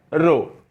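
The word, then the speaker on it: ρ: रो इसको प्रोनाउंस करते हैं रो।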